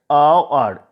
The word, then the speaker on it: hour: Okay, the hour is pronounced like that, hour, au.